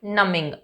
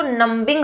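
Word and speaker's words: numbing: अब देखिए यहाँ पे इसको नंबिंग मत बोलिएगा, क्योंकि जब भी एम के बाद बी आता है तो बी साइलेंट हो जाता है, जैसे कोम होता है, पाम होता है, इस तरीके से। राइट, तो ये है नमिंग, माइंड नमिंग।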